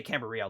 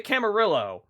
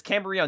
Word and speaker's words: Camarillo: you're supposed to say camber real like the l's or the l's are silent uh yeah but so